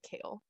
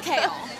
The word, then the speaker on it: Chaol: that jump right like obviously it's spelled like chaos but with an l so you should be able to pronounce it kale um and clearly that